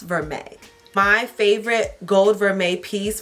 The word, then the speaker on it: vermeil: It is spelled VERMEIL, but pronounced vermeil.